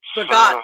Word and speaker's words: Bogod: Is that how you pronounce it, Bogod? Yes, Melanie, Bogod is right. Bogod, okay.